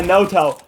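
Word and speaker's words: Noto: that no two is actually pronounced Moto of the Season no yeah no toe just looked at the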